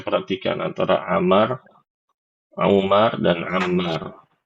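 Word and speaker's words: عمار: Ini ibu-ibu juga tulisin biar enggak isak tukar-tukar kalau saya perhatikan antara Amar, Umar dan Ammar. Kalau Amar, Amar ini kayak gini bentuknya. Ammar ya.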